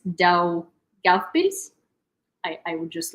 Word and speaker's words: Daugavpils: Mayor of Daugavpils, the second largest city in Latvia.